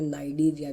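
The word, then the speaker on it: Cnidaria: हम पहले कहते हैं नाइडिया भी कहते हैं सी को म कोई कुछ ले कहते हैं की नाइजेरिया मतलब या सी साइलेंट है ठीक है तो नाइजेरिया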